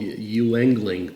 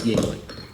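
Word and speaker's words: Yuengling: Yingling, or as it looks like it's spelled Yingling, but it's Yingling.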